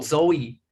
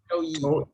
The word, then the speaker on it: Zhou Yi: también se lo conoce como, how do you pronounce it? Zhou. Zhou. Zhou Yi. Chow. Yeah. Zhou Yi.